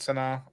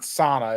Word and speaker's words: Sana: I pronouncing that right Sana yes it's not sauna it's Sana maybe I try to make sure I'm doing it myself yeah it's s-a-n-a I know um and